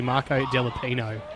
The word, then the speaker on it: Marco Delapino: I actually come through a lot of junior football and it's spelt wrong on the list, but it's actually Marco Delapino.